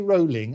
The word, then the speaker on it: Rowling: said is, don't apologise to me, J.K. Rowling as in bowling, that's how you pronounce the name, but don't apologise to